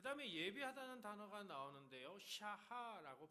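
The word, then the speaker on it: שָׁחָה: 그 다음에 예배하다는 단어가 나오는데요, 샤하라고 발음하는데 몸을 굽히다, 엎드리다, 경배하다 이런 뜻이 있습니다.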